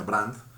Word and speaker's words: Brandes: bueno, creo que, ¿no?, es como Brandes realmente, pero se pronuncia Brandt, eh, ¿no?, como que